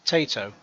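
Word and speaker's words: Taito: said I'm ready I'm pretty sure it's pronounced Tato um or t-a-i-t-o basically the um the video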